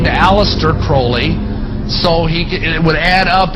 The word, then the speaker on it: Crowley: a violent Aleister Crowley he likes to have his name pronounced Crowley to rhyme with holy and the statement today